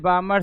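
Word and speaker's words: Balmer: हाय रे लमन सरीज बमर series प fund bracket पासन हा वही तो बोलता तो सरनाम पढ़ना चाहिए यह नियम बामर सरीज स्पेलिंग क्या लिखेगा बी ए एल एम ई आर L silent होता है बी ए एल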